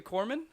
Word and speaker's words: Corpsman: out of 3 presidents so far have said Corpsman correctly, so I'm real proud of you on that one. I know. Really, how big of a deal is that in the Navy? As being a corpsman?